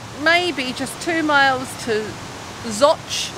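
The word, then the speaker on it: Zouch: just two miles to zoch zotch it's spelled z-o-u-c-h how it gets its name it doesn't sound very english but we made more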